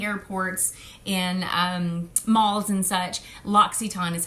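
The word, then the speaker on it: L'Occitane: all in the airports in malls and such locks Etan is how you say that and locks Etan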